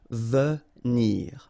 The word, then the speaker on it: venir: Remember when you get this without any accent, normally the sound is really like so venir, venir.